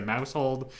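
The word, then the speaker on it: Maushold: then it evolves into Mousehold. First of all, I want to say these two Pokemon have very funny names. Uh mousehole. What? Mouse hole. Mouseold. Make sure you pronounce the end of it.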